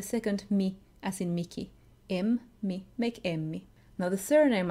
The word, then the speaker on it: Emmi: Emmi is pretty close to the English name Emmy, just with a longer M sound.